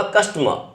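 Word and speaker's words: customer: कस्टमर, इसका pronunciation होगा कस्टमर।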